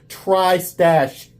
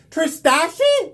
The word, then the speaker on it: Tristache: the trash and he he made sure that I pronounced it correctly trash thank you because I would have said TR trashi like clearly would have said it wrong without that without the